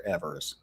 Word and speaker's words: Evers: I guess you're telling me how to pronounce his name correctly because I wasn't sure if it was Evans or Evers.